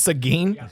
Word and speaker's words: Seguin: and Applebee's will open in, how do you pronounce it? Seguin? Seguin. Oh, it's Seguin.